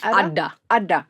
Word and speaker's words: Adda: Now let's talk about the pastime of Adda. Is that how it's pronounced? Adda. Yeah, so 2 Ds.